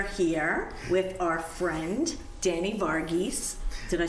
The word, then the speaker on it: Varghese: We are here with our friend, Danny Vargas. Did I say it right? Vargas, yes, you got it perfect.